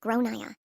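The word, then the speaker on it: Gráinne: She asked what I meant and I said, "Well, in Ireland, they typically pronounce it like Grainne."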